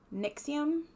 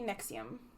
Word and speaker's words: NXIVM: side word it said it said nixium okay sure so it might be nexium props i don't know this